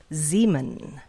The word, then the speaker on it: Ziman: Ziman. Oh, rhymes with semen.